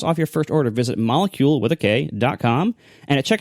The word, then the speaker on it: Molekule: your first order visit molecule. comom and and it's spelled just like the word molecule but if you replace the C with a K so it's m o e kle e so for $75